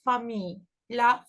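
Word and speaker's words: famille: is the word Lai we don't pronounce Double L there we don't say it fil it's Fami Lai most of the time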